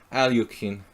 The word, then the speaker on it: Alekhine: Let's hit him with the Alekhine's defense. Or Alyokhin. Alyokhin, if you want to say it correctly or relatively correctly.